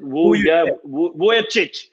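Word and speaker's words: Vujačić: We had Sasha how do you pronounce it? Vujovic.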